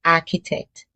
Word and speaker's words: architect: The H is silent. It's pronounced architect.